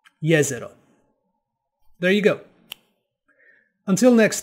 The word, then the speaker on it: Jezero: So, now that you know where the name comes from, here is the correct pronunciation of the name of the crater. Jezero. Jezero. Jezero.